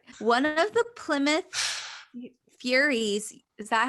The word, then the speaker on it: Plymouth Furies: One of the Plymouth Furies, is that how it's pronounced?